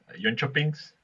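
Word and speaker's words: Jönköpings: Next team, let's try to pronounce this one. JONKOPINGS.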